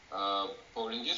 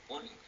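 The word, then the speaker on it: Pauling: Хотя, по идее, мы же говорим полинг, а не паулинг. Не знаю. Ну, назван он в честь того самого Лэнс Полинг.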